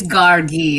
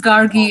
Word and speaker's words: Gargi: Hi, it's Gargi actually. Sorry about that. Two hard G's, but you know, in the Latin sort of application, the second G is always softened, so that's become the alternate pronunciations.